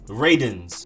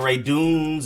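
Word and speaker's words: Radunz: have offensive tackle dylan rayden's like rey then done like when you're done with something and then z's at the end dylan rayden's not ray dunes or redundance is dylan rayden's then next up you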